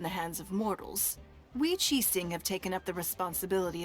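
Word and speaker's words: Qixing: the people yeah and that's another word qi sing they pray like ninguang here pronounce it chi sing which is a very i guess english pronunciation with the ing but it's and uh yeah all these little nuances i guess don't really translate over from english to chinese or chinese to english we have taken charge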